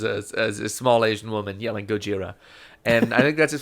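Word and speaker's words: ゴジラ: Every one of those toddlers is a small Asian woman yelling Gojira. And I think that's as far as we can take that bit, because You know, that Gojira is just Godzilla.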